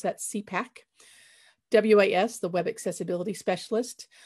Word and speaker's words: CPAC: We pronounce that CPAC.